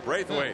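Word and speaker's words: Braithwaite: two Jam br W did I pronounce that right Steve close and he's a good one well give it give give me the correct pronunciation braith weight there we go Rogers Jackson and Jones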